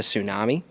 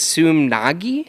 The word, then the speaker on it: Sumagui: say my last name I always say tsunami that's is it Su but it's sum Nagi Sumi there's no n